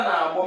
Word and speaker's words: na-agbọ: Nkịta na-agbọ, middle tone.